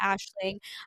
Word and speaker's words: Aisling: Everybody gave me so much shit about naming it the Ashling. So Aisling. It's Scottish. I know it's spelled differently than you would think, but that's how you can find us.